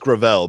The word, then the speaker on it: Gravel: Well, it's pronounced Gravel, but yeah, he was